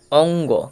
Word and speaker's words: অঙ্গ: এটির দিকে তাকাও প্রথমে এর উচ্চারণটা কি অঙ্গ কেন হবে কারণ এটা হচ্ছে গ তাহলে প্রথমে যে উটা আছে সেটা অ এর সাথে উচ্চারিত হবে অং শেষ হচ্ছে গ অঙ্গ তাহলে অ আর হচ্ছে